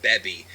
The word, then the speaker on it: Baby: videos actually refer to baby as beby because I went with the Japanese pronunciation but it's really the same thing because baby and bebi are the same words